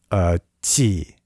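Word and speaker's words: 气: I'm sorry, I don't have the tones, but qi. It sounds a lot like ch, but it's like. It's like a different part of the tongue that hits the palate.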